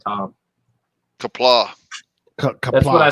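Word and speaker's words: Qapla': Kapla.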